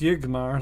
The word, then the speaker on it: Yigmar: Yigmar is pronounced Yigmar, leading with the vowel sound.